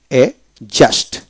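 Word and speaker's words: adjust: যেমন এ ডি জেইউএসটি এ জাস্ট, এ জাস্ট ডি উচ্চারিত হবে না, এ জাস্ট।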